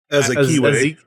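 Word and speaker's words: Azikiwe: Azakiwe.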